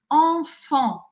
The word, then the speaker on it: enfant: Enfant, enfant. Apesar de escrever duas vezes as coisas de forma diferente, EN, FANT, eu pronuncio da mesma forma.